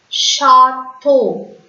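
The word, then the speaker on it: château: CH is sh in French. So this French word will be pronounced as chateau. Chateau.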